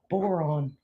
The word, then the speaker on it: Boron: What is Boron? It rhymes with moron.